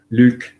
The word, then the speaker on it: Luc: I'll spell that for you because Luc is L-U-C, it's French.